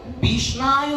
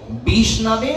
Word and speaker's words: বিষ্ণবে: পাঠ করেছেন তারা বুঝবেন একজন মূর্খ ব্যক্তি উচ্চারণ করে ওম বিষ্ণায় নমহ কিন্তু বিষ্ণায়ও হয় না। সঠিক উচ্চারণ হচ্ছে ওম বিষ্ণবে নমহ।